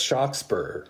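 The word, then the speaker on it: Shakspere: but he misspells it he doesn't spell it shakespeare with three e's it's just got one e it's so it's shock spur like that his brother gilbert has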